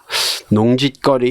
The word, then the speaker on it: 농지거리: 농짓거리 이렇게 쓰는 게 맞나요? 확인합시다. 농짓거리가 아니라 농지거리입니다. 발음은 우리 농짓거리 좀 하지 마라 이렇게 하잖아요. 근데 표기는 농지거리.